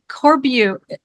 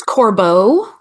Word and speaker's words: Corbeau: introduce Jennifer uh Jennifer corbu how do you pronounce your last name it's corbo corbo I totally butchered that thank you Jennifer corbo